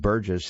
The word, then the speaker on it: Burgess: It's by Jenna Burgess. By the way, her name is spelled Jena, and Burgess is Burges.